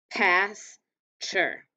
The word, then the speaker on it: pasture: write them out so pasture how many syllables do we hear pasture so we have two syllables so two lines pass sure so we know pass